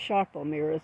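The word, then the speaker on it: Sarpo Mira: SLE sharel mirrors they're pronounced sharpel mirrors even though don't have H in them it's s a r i p o I believe um it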